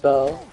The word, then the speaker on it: Bow: It's B-O-W. It's pronounced like how you spelt it, but it's spelled like bow tie.